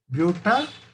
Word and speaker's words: butanoyl: So it is 3 comma 3 dimethyl butan, butan oil chloride. So butanoyl chloride, you should pronounce it as butanoyl chloride.